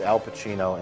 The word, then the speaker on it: Al Pacino: of the film is Al Pacino in a hilarious Dunkin Donuts commercial yessum dancing and singing a song because Al Pacino rhymes with cappuccino or something something so